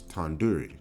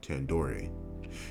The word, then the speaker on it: tandoori: It's Tanduri, not Tandoori.